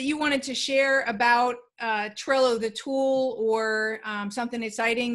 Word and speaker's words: Trello: The only thing I'll say is what I really like about Trello is it rhymes with Jello, and I love Jello.